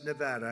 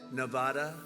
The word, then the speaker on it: Nevada: I want to come to a state known as Nevada. Has anyone ever heard of it? And don't ever mispronounce the name.